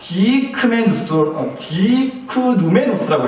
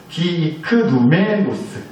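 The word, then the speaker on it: διικνούμενος: 디크누메노스라고 읽어요. 디크누메노스.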